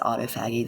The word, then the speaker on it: autophagy: Somebody said autophagy the other day. It's like, no, that's not how you say it. It's autophagy. And that just means that